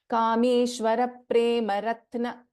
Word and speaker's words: Kameshwara Prema Ratna: So for example, Kameshwara Prema Ratna. So Pa is getting doubled. Kameshwara Prema Ratna.